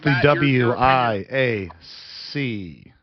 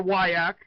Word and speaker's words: WIAC: There is no I W I A C. No, no, no. I see the from Wisconsin told me that it's Wisconsin sober and it's the WAK because that's the way you pronounce it.